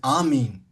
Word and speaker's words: amen: They just said the a right pronunciation is amin.